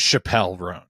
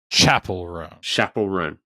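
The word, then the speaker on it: Chappell Roan: I thought her name was Chappelle Roan. Okay. There was a brief moment where I was like, I don't know how to pronounce it. And then she was on SNL. Chapel. Yeah. Chapel Roan.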